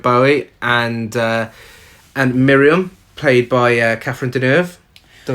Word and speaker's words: Catherine Deneuve: It's a very 80s nightclub, and we get introduced to John, played by David Bowie, and Miriam, played by Catherine Deneuve.